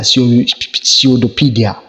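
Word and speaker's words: pseudopodia: mean of you pseudophobia so many pronunciations pieceopedia pseudopedia hope you get it so important pronunciation and the class number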